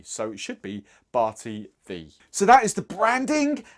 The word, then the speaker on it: Barti Ddu: Now, I say Barti Ddu because it is D-D-U. However, I am reliably informed that Ddu is actually pronounced 'thee'. So, it should be 'Barti Thee'.